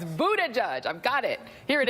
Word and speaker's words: Buttigieg: And my Pete Buttigieg pronouncer coach has texted it to me. You know who you are. It's Buttigieg.